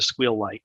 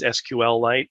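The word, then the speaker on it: SQLite: so squeal light is SQL light sometimes people pronounce it that way I prefer pronouncing it squeal because what not only because it's funny uh it's one syllable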